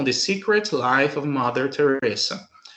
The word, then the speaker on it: Teresa: se escreve em português, a pronúncia do S em inglês é som de S mesmo, não é som de Z, tá? Igual no português. Então, eu tenho Mother Teresa, ok?